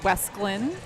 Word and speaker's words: Wesclin: guess we'll see what westland brings so i hear actually we're it's it's westland oh pronounce it long all along wrong yes and i i